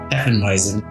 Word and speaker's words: Hefeweizen: We're a West Texas-themed brewery making a German-style, how do you pronounce that? Hefeweizen? Hefeweizen.